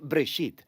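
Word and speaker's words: בראשית: Génesis viene de una palabra hebrea, se pronuncia Breshit, simplemente significa principio.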